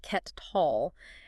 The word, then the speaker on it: Kettal: Yeah, pronounced Ket Tall.